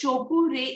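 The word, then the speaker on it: Cho Ku Rei: First, Chokure is pronounced as Chokure.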